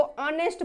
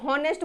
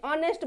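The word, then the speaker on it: honest: बोलते हैं ना, इसको ऑनेस्ट बोलते हैं। हॉनेस्ट बोलते हैं क्या? नहीं बोलते, ऑनेस्ट बोलते हैं।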